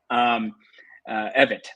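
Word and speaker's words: Evette: He still said Pamela Yvette's great. Evitt, I should say. That's the pronunciation.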